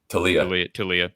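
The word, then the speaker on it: Taulia: not an insult to to uh is it tell leah am i pronouncing that correctly totally to leah okay it's not an insult to talia but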